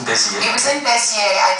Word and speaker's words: Béziers: The one you told Simona about France in Béziers.